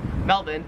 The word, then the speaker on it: Melbourne: it wouldn't matter because the australian accent just leaves the r off if it's ever in the last syllable of a word so you would pronounce melbourne melvin and you'd pronounce carrick